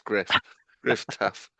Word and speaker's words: Gruff: Yeah, and it's spelled the Welsh way, so it looks like Gruff Tough, but it's Griff Tough, who is having a great season.